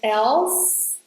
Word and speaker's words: else: When you are pronouncing these two words, make sure you don't say the E. "Someone" ends at /n/. And "else" ends at /s/.